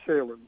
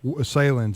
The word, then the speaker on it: Salins: going forward talking to Peter Salin s a i ns Salin is that how you pronounce it Peter I I say Salin Salin can I change